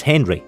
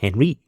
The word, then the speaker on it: Henri: You play as Henry, or he's French, so I guess it's pronounced Henri, a French soldier in